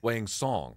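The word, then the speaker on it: Wang Cong: It's Song. Song. Wang Song. Yes. Spelt what? So the C is actually kind of like an S pronunciation. Yes. Wang Song. They were saying Tong on the broadcast, and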